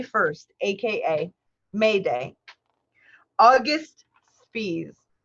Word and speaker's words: Spies: aka May Day August Spees it's spelt spies SP IES and but his name is August B's fees and he was executed